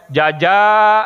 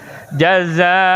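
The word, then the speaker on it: جزاء: Min dibacanya gitu ikhfa min qurrati a'yun jaza nah itu makhraj hujub pada benar jaza beda jaza jangan sampai jaja nah itu mah jaja jaza nah ini disebut dengan iklab mim tanwin gitu Pak bima kanu ya'malun.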